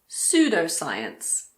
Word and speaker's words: pseudoscience: Well, we don't pronounce P if it comes at the beginning of a word before an S. For example, pseudoscience, psychiatrist, psychic, psychology.